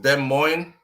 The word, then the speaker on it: Des Moines: Des Moines. So it is pronounced Des Moines.